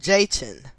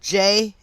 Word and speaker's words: Jachin: they are the two pillars of boaz and jayton so i'm gonna spell those just in case i mispronounced them but um these temples are in the bible b-o-a-z and j-a-c-h-i-n boaz and jachin which were once found at